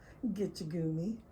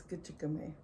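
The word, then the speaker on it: Gichigami: what's funny grandma and she just getcha goomy and he goes what is that not how you say it she goes no and that goes well how do you say it she goes it's kachikame i go wow michaels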